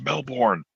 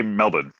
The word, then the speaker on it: Melbourne: is Melbourne I'm like that's the way it's spelled how is it supposed to be pronounced well they say melbour and they just say it without saying melb oh okay melbour I